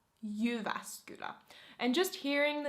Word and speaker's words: Jyväskylä: If you would like to pronounce it in a more Finnish way, you would pronounce it Jyväskylä. Jyväskylä. Jyväskylä.